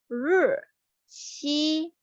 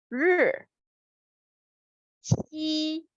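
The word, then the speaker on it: 日期: It sounds like 日期. For the 日, you may pronounce it R-E and add a curve at the end of the pronunciation. 日期, 日期.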